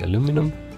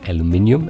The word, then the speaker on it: aluminium: head material will be aluminum or aluminium as it's pronounced correctly um and then we